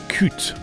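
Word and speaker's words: Qute: that is eschatos by coot they pronounce it cute with a Q as I say you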